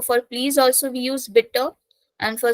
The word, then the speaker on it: bitte: the first one is bitter yeah bit again e is taking a pronunciation bit we can't say B that sounds very awkward so bit B bitter